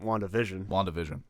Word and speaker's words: WandaVision: WandaVision Yeah, is the correct way to say it.